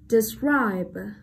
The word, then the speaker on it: describe: Next, describe, describe. Động từ có hai âm tiết thì trọng âm sẽ rơi vào âm tiết thứ hai luôn nha.